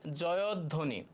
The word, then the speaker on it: জয়ধ্বনি: সঠিক উচ্চারণ কোনটি হ্যাঁ এটার উত্তর হবে জয় ধ্বনি জয় ধ্বনি এটার উচ্চারণ হবে জয়ধ্বনি দেখো তো এটা হচ্ছে